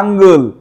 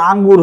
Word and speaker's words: আঙ্গুল: বাহ, আঙ্গুল, বলো আঙ্গুল। আঙ্গুল ভালো করে না করলে আবার আঙ্গুর হয়ে যাবে, যেটা ফল।